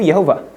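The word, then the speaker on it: יהוה: Jadi di sini cara bacanya itu Yehovah.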